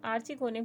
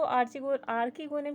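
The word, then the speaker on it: archegonium: Female gamete को हम आर्चिगोनियम के नाम से जानते हैं। तो आप इसको आर्किगोनियम के नाम से भी प्रोनाउंस कर सकते हैं।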